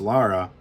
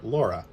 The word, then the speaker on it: Lara: we could teach Zuniga how to pronounce Lara all would be right with the world Todd zeniga used to call her Laura Laura always drove me nuts um some survival tips